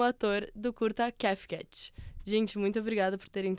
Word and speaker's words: Kafcat: E eu fui o diretor e também o roteirista do curta CAFCAT, né? Que essa é a pronúncia que eu envisionei, assim, que foi o projeto de segundo semestre.